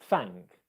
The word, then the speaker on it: thank: of an example, but if you've got the N and the K in one syllable, typically in a single syllable word like thank, you don't pronounce an N, you pronounce an and then you pronounce the K afterwards.